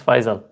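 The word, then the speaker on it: Faisal: middle name it's yeah it's fisal it's it's not even fisel but that's how they say it test me says your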